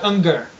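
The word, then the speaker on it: Uygur: How do you say his last name? Ungar. Ungar. Ungar. Shenk Ungar. He was just like, "Well, this guy's more liberal than I am."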